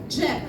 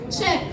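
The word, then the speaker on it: ӝек: Дальше идет Ж с двумя точками. Это близко к сочетанию звуков ДЖ, Дж, да, как Джек Лондон. И у нас в удмуртском языке есть свой Джек, это стол, Джек.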